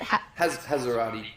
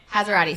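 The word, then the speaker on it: Hassarati: Well, look, speaking of your ex, your recent ex is Georgia how do you pronounce it? Hazarati. Hazarati.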